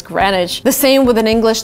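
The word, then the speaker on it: Greenwich: where time starts so it's actually written green which you would kind of read in this way by the right way to say it is granite the same with an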